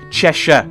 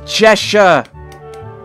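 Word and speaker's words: Cheshire: of the chesha cat chesa cat sorry pet peeve pet peeve is is Americans and Chesire Cat like it's cheser sorry sorry that that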